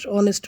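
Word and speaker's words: honest: একজন সৎ মানুষ অনেস্ট যদিও অনেস্ট এটি কনসোনেন্ট ওয়ার্ড দিয়ে শুরু হয়েছে কিন্তু এর উচ্চারণ হয়েছে ভাওয়েলের মত তাই এর পূর্বে আমরা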